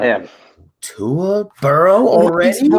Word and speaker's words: Burrow: Cowie not in to burrow or you're gonna say burrows at least say his name right its burrow not burrows this is amazing this